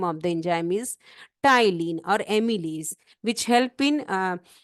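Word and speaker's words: ptyalin: So saliva contain enzyme name of the enzyme is amus which is also called tylene. P T Y means P is silent here.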